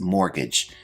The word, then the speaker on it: mortgage: Our first term is mortgage. Now this word has a silent T, which I've highlighted in the word.